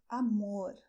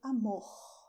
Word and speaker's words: amor: And pay attention that here I said "AMOR", and this is the way I pronounce this letter R at the end of the word, because I come from São Paulo, and in the South